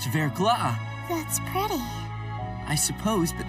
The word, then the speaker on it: verglas: That word basically means thin ice, but it's pronounced verglas.